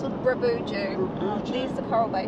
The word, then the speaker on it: Bruboodjoo: We've got about 300 clicks to do today, up to how do you pronounce it? Bruboodjoo.